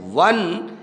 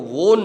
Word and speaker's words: won: ही हैज़ वन many prices, he हैज़ वन, WON को वोन नहीं बोलेंगे, इसका उच्चारण होगा वन, वन का मतलब जीतता है, उसने जीता है।